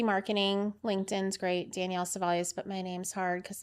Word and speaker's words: Cevallos: Danielle Savalios.